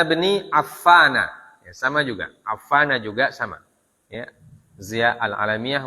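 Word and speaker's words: عفان: Maka bacanya an Utsmana, ya, bukan an Utsmani. Ya. An Utsmana bin Affana, ya, sama juga. Affana juga sama.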